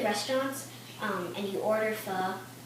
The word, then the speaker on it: pho: can cook toel today we're making F and it's spelled p h o which most people think it's faux but it's a Vietnamese